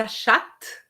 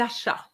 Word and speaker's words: achats: Pas les achats, mais les achats. D'accord? Les achats, so the T is silent and the S as well. OK, très bien.